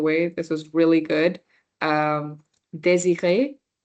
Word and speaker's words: désiré: Désiré. So the DE is easy to pronounce here. It's the R that trips people off. So désiré.